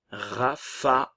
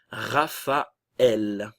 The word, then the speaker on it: Raphaël: tilde et la tréma, la prononciation va se séparer, d'accord? On aura donc une séparation des deux voyelles. Raphaël, d'accord? On aura donc premièrement le son A et le son E, bien séparés. Raphaël.